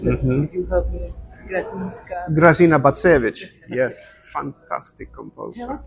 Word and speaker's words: Grażyna Bacewicz: I don't know how to pronounce it. You help me. Grażyna Bacewicz.